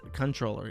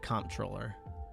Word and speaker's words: comptroller: Animal Comptroller for 1776 says, I think it's controller. I don't think you actually pronounce it comptroller.